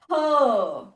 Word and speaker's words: her: Okay, her for Indians is literally a great challenge because we always roll the R. Okay, we always pronounce the R with the high on stress. Okay, what is this? Her.